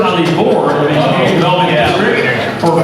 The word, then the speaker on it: Misigoy: I need to correct somebody for my name, but it is Misigoy. My name is Misigoy. Hard G sound, but not a big deal.